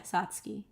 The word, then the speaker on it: Satsuki: Satsuki Satsuki Satsuki yeah Satsuki I think that's how it's pronounced like you don't say the U I hope I'm right